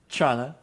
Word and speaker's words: Toronto: Um, I'm from Toronto, Canada, or well, as we say it, Toronto.